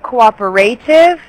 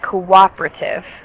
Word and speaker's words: cooperative: And then instead of cooperative, it's more like cooperative. Cooperative. Cooperative. Yeah, cooperative. Like the E is silent.